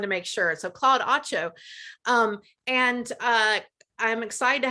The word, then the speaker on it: Atcho: Claude, I'm just realizing I don't know if I've pronounced your name correctly. Atcho?